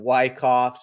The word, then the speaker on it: Wyckoff: in Elliott waves and Wyckoffs or Weekoffs. Everyone calls it Wyckoff, but I think it's pronounced Weekoff. Don't quote me on that, but I think so.